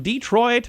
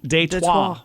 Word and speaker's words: Détroit: It comes from Detroit, Michigan. You know, Detroit is the way it's said in the United States. You know how Detroit is pronounced in France? And Détroit. Détroit, which is the Détroit.